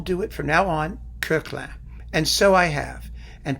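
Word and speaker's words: Koechlin: knew the guy, said to me, it's not Kirchlin, it should be Coquelin. That's how he preferred it pronounced.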